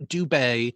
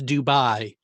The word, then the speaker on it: Dubay: and even then, his actual name is not Dubay, it's Dubai.